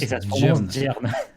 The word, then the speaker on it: Germe: Et ça se prononce Gern.